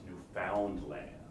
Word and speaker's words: Newfoundland: Nova Scotia or Newfoundland, which I found out actually this year, they actually pronounce Newfoundland. No matter how much I tried to correct them when I was there, they insisted that no, it was Newfoundland.